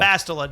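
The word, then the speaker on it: Bastila: Bastel. Bastela. Not, you know, I actually never had a problem saying Basso's name wrong.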